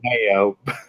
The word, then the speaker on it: DeMeo: It makes me think of Rob Demio, or is it DeMeo? Man, he taught me how to pronounce it in our group. DeMeo.